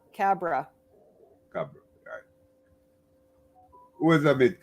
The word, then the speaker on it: Khabra: who is and I'd like you to pronounce that last name for me who are you it's just Cabra Cabra God who is a bit cobra oh gosh